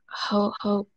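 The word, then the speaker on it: Ho-Ho-Kus: I pronounced this right. Where is Hohokus?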